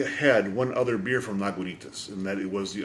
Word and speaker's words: Lagunitas: It just says, how do you pronounce it? Lagunitas. So, a little something something from Lagunitas is a gift to me to check out from a friend of mine.